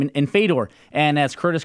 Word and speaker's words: Fedor: a massive name in fade or and as Curtis called them Fodor yeah and the reason I how you say it's not the door its fate door and my thing is